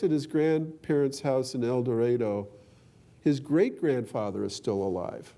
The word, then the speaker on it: Eldorado: small town in Kansas called Eldorado they pronounced it that way not Eldorado in Kansas and he lives with